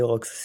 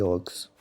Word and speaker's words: Rox: cheval qui s'appelle les Rox, c'est cool. Je sais qu'il y en a beaucoup qui m'appellent l'euro ou l'héros, je sais pas. Mais en fait, non, c'est le X se prononce dans mon pseudo.